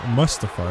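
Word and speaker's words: Mustafa: That's mustify, isn't it, Holly?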